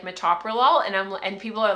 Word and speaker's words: metoprolol: hear certain ones like metoprolol and people are like metal pro Lawler they'll say like met prolol and it's like no it's metoprolol now I can say